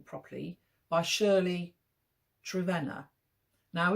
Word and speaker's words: Trevena: name properly by Shirley trena now in my book review I've pronounced it travina but it's not it's trena so I'm told by